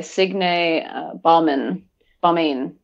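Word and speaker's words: Signe Baumane: can see it I definitely recommend that by Sig Balman Bain that's how you say her name um she's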